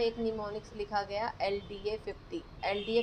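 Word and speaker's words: mnemonics: लिखे जाते थे जिनका नाम होता था नीम निमोनिक्स एम साइलेंट है।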